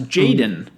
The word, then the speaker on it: jxdn: born in 2001 uh known professionally as jxdn stylized in all lowercase i'll remember that for the episode and pronounce jaden i mean maybe just